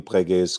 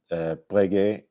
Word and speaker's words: Breguet: on the first E, whether I should be pronouncing it Breguet or Breguet. Apparently, both are acceptable pronunciations, but I'll go with Breguet tonight.